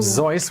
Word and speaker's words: Seuss: magazine and went by the pen Nam Dr seus seus was his mother's M name when he was born his parents made it his middle name in German it's actually pronounced Ze which I'm sure some commenter has commented in